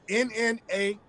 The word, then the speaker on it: Nnamdi: Spell it for me. Oh, Nnamdi.